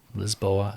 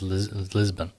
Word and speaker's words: Lisboa: uh lisboa rcc lisboa lisboa um the pronunciation the angle of size is lisbon but uh the proper pronunciation of the the city is lisboa i thought you didn't